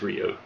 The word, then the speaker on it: Ryu: know it is but i've always called him ryu um i know technically it is rio i i agree with